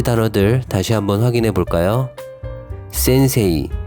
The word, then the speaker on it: 先生: 단어들은 이렇게 발음하시면 됩니다 센세이가 아니라 센세 지레이가 아니라 지레요 케이가 아니라 요케 헤이 따이가 아니라 따이 메이지가 아니라 메진 데이 네이가 아니라 대네 센세 센세 지레 지레 게게 다 다 징 매네네 즉 이러한 단어는 앞글자를 장음으로 발음해 주시면 됩니다 일본어 갓 입문에서 외울